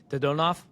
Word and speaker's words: Dodonov: You're going to correct me when I get it wrong, but it's Vitalii Dodonov. Yes, perfect. Vitalii Dodonov.